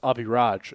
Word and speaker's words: Avi Raj: Avi Raj. Okay. Yes. Technically, it's Avi Raj if we want to be specific with the Indian pronunciations, but nobody ever seems to get my name right.